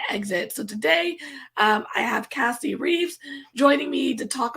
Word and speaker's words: Casey: Hi, Cassie. How are you? Good, and I won't judge you for saying my name wrong, but that's okay. Did I? No, it's God. Casey.